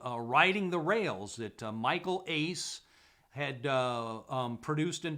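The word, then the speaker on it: Uys: other night so uh riding the rails michael ace and it's actually spelled u-y-s but it's pronounced pronounced ace according to wikipedia and lexi lovell um uh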